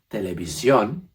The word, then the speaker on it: televisión: that end in I-O-N, the accent is always over that O. So you know those words like television, for example, televisión will be pronounced with a little extra push at the end.